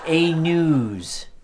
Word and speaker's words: A-News: So I just want to apologize to Brian and remind our audience that the correct pronunciation of our show is A-News. A-News, Brian. It's a long U.